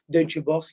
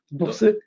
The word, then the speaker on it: Deutsche Börse: Deutsche Börse qui est vraiment… Comment on prononce Deutsche Börse en allemand? Bourse? Non, Deutsche Börse.